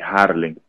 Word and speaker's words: Jarlin: ¿Es Yarlín o Yarlín? Harling. Jalín. Sí, Harling. Porque, okay, con J.